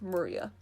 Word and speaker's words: Maria: remember her name is written of course is pronounced maria the third character looks like a cross which